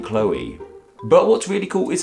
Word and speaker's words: Chloe: ends with OE and normally words ending with OE make like an o sound right with toe and woe and the name Joe as well and we